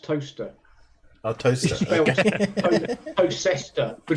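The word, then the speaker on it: Towcester: that town up the road for me it's pronounced toaster oh toaster toer but it's pronounced toaster nobody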